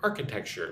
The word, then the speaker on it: architecture: So, Baku's old city and modern architecture. Look at the word architecture. Architecture. Architecture. Four syllables. Architecture. Probably the most emphasis goes on the first syllable.